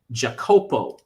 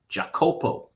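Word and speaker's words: Jacopo: So in Italian, Jakopo is how you say Jacob. Jakopo. J A C O P O, right?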